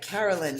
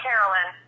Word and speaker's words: Carol: All right, Carolyn, Carolline. Carolyn. No, not Carolyn. Carol, just Carol.